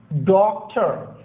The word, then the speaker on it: doctor: Doctor, doctor, R should not be pronounced here.